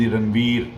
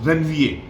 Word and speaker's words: Ranvier: of ranvier now here the pronunciation is when va it has nothing to do with iran wheel it's then va now ranvier was actually